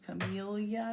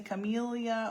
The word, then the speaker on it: camellia: Do you say camellia or camellia? I think I learned camellia because I grew up in an area with a lot of Spanish influence, and the double L is pronounced as a Y.